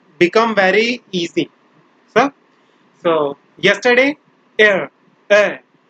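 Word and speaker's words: hier: So yesterday, air, air. Like air, you don't have to pronounce air, just air, like air, air.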